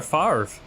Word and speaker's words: Favre: serbian and german names werner farve uh and that's how at least that's at least how brett favre says his name even though it's spelled f-a-v-r-e not favorite uh all right i'll